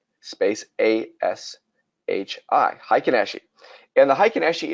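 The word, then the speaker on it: Heikin-Ashi: i k i n space a sh i high kanashii and the high can actually is an aggregate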